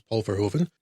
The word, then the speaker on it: Paul Verhoeven: Paul Verhoeven, I think that's at least passable stab at the correct Dutch pronunciation, but it's so anglicised nowadays, everyone knows it's Paul Verhoeven, is not your run-of-the-mill bog-standard director.